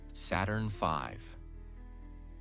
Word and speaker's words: Saturn V: The rocket they used was called Saturn V, pronounced Saturn V.